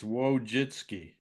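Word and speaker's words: Wojcicki: W So the J is pronouncable. It's Wojitski.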